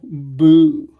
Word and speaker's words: bout: this is a cical boo it's spelled bout but it's pronounced Boo and what that is